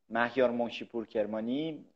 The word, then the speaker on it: Mahyar Monshipour Kermani: moi je m'appelle alors je le prononce à l'iranienne convoyait outre maintenant mahyar monshipour kermani je suis un français